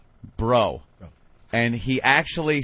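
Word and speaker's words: Breaux: baby And they are last name is like B R E A U X You know how thats pronounced down there bro and he actually said good luck mr.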